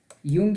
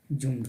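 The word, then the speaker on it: Jung: युंग या कई बार इसे जुंग भी लिखा जाता है, युंग या जुंग, दोनों का उच्चारण एक है।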